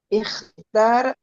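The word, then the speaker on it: اختر: Untuk perintah ikhtar. itu ujungnya sukun. Nah, diingat Sukun. ya. Ya, Jadi ya. jangan taru, Ikhtar. jangan tari juga. Ikhtar Nah, gitu aja dulu.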